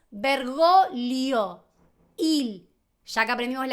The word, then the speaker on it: Bergoglio: para Vergoglio, que nació en Argentina, para toda Latinoamérica, para España, pero en Italia, Vergoglio, la G, la primera G obviamente se pronuncia, yo estoy hablando de la G con la L. Es vergolio.